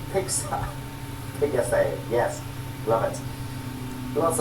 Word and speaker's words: PGSA: Persian Gulf Strait Authority, PGSA, pronounced PIXA.